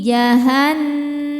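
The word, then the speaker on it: جَهَنَّمُ: Hadhihi jahannamul. Nun tasydidnya dihukumi gunnah musyaddadah karena nun bertasydid. Cara bacanya berdengung, tahan dengungannya kurang lebih 2 harokat.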